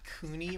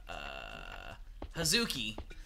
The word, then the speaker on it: Hazuki: about about that huh Cooney residence I probably butchered that yeah you most definitely did it's Hazuki last name says okay see I